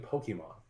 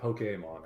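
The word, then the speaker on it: Pokémon: They were playing Pokemon, and or Pokemon, I guess is the proper pronunciation.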